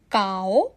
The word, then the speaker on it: き: কাও দেস এর অর্থ এটা মুখ। এখন আপনি আমার সাথে একবার করে বলুন কাসা দেস, কাও দেস। খুব ভালো। এখন দ্বিতীয় অক্ষর হলো কি। এই অক্ষরের উচ্চারণ হবে কি।